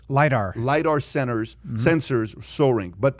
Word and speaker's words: lidar: uh cars like litter centers how do you pronounce that word l-i-d-a-r lidar lidar centers sensors soaring but but the hype